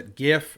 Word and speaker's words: GIF: here you so yeah Jif or gif i pronounced a gif and i will not change yeah it so the